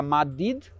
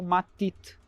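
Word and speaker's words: մատիտ: A palavra é a mesma para os dois idiomas, mas no armênio ocidental se pronuncia madid e no armênio oriental matit.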